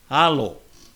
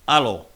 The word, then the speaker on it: alo: the way it's pronounced alo the long vowel sound um not alo with a glottle breakalive.